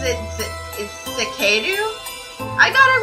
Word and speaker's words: Zekeru: My name is Zekeru. Zekeru. Wait. Wait. Okay, so... I had to clear my throat. Wait, so he pronounces it Zekeru?